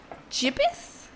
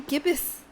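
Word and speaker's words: gibbous: Did y'all know Gibbus, like the moon phase, is pronounced gibbus? What? Like waxing. Jibis. This is what happens when I read the word gage or gouge. It's almost as bad as gif.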